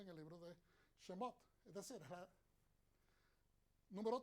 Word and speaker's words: Shemot: Entonces, en Shemot, a veces algunas personas lo pronuncian Shemoth o Shemos.